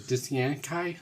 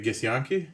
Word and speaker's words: Githyanki: don't forget Drow and, was it Dithyankai? I always say it wrong. Am I saying that right? the Githyanki? There you go, that's the one.